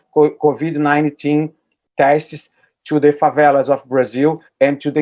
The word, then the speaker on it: favela: favela is that how you say it favela favela yes uh so these are these are areas